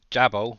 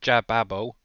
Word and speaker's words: Jababo: I know some people say Jabbo, but I'm pretty sure it's Jababo pronounced.